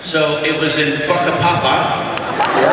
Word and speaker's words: Whakapapa: It was on in Maori, W-H-A is pronounced like F. So it was in Whakapapa, right?